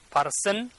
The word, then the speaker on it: person: And then here also people used to pronounce person, but this one is not correct. This one is correct. Person. R is not pronouncing here.